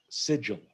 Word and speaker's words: sigil: a sigil ascension remember sigil oh sigil okay it's like an sid gel but i'm not sure